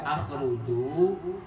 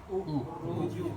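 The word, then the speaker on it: اخرجوا: huruf yang pertama dibaca akhruju ukhruju ikhruju paket ukhruju 100 paketua pintar enggak kenapa dibaca ukhruj paket karena huruf ketiganya domah Mantap.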